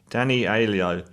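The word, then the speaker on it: Danny Aiello: works for danny elio pronounce his name danny alio as sal he's a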